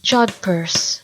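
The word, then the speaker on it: jodhpurs: But my recollection is that from watching old movies and stuff that they were Yodpers. Jodpers. But that... All right. Jodpers. Yeah. I've never ever heard of anything but Jodpers.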